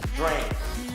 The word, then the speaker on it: drank: Se pronuncia casi como una E, drank, alright?